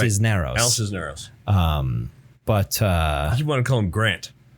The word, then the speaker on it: Cisneros: Al Cicero. Cicero? Yeah. No. Isn't it? No, it's like CIS. I can have the page here. CISNEROS. Oh, it is Cisneros. Yeah, Cisneros. yeah. Cisneros, right? Cisneros.